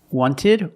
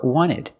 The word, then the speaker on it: wanted: Wanted or wanted. It's more common to hear Americans say wanted. You have NT in the middle, the T is silent.